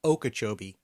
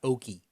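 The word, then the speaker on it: Okeechobee: I'm gonna tell you it's almost certainly pronounced oak joby County not okie okie dokie I believe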